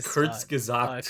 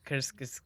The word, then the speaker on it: Kyrgyzstan: It's Kyrgyzstan. Kyrgyzstan. Okay, Kyrgyzstan.